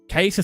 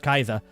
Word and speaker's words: Caesar: So interestingly, in Latin, there isn't a hard... So C is a hard K, so Caesar is supposedly pronounced Kaiser, which is where you get it in German.